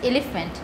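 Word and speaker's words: elephant: তাহলে হাতির ছবি আমরা জানি হাতির ইংরেজি এলিফ্যান্ট। তাহলে এলিফ্যান্টে দেখো ই এই লেটারটা অনেক বেশি করে, অনেক লাউডার করে আমাদের উচ্চারণ করতে হচ্ছে এলিফ্যান্ট।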